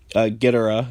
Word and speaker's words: Ghidorah: Titans that originate on Earth, King Ghidorah himself, Ghidorah, that's how they say it though, which is fine, but was not of our planet, so there's already a precedent established here.